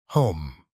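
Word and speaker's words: homme: bark he learned from Danno that it was pronounced home and in the same way he was taught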